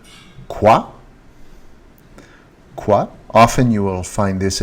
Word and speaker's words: quoi: What is pronounced quoi.